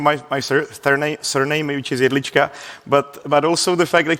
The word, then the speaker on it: Jedlička: Let me just fix one more thing, one more thing here actually, which is not just my pronunciation, my my surname, which is Elicha, but but also the fact we're not micronation.